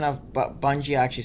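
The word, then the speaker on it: Bungee: Then I said Bungie, or how he pronounces it, like Bunjay. It's really cool. He does pronounce it Bungie normally in some bits.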